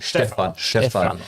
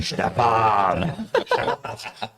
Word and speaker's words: Stephan: Stephan. Yeah. You need to work on your German pronunciation. Stephan.